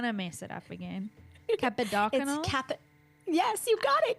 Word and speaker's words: Kappadakunnel: Please remind me of your surname pronunciation, cuz I'm going to mess it up again. Capidacyl. Capid. Yes, you got it. Capidacyl.